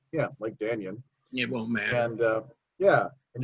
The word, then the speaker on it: Dannion: Dannion, spelled like Dan, like Dannion.